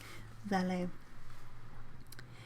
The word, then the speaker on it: valet: only a valid rebelli i guess i should use the french pronunciation not the british one for it vale in the 17th century